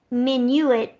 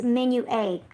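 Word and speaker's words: Menuet: So it looks like Minuet, but it's Menu A.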